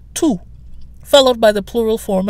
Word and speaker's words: tous: So we're using the masculine plural form of tout, which is T-O-U-S, pronounced the same way, tout, followed by the plural form of the, which is les, L-E-S, so tous les Français.